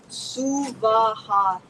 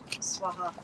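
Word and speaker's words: Svaha: you'll hear online, but the proper pronunciation, Om Bhurabhuva Suvaha, 3 separate equal syllables, not Swaha or Swaha. She is the right lady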